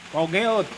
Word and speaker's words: Peugeot: Ah, Bacanya apa? Fashion. Pogeot.